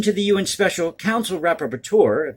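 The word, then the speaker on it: rapporteur: the un special counsel rapper tour that's how you pronounce that word r-a-p-p-o-r-t-u-e-r on contemporary forms of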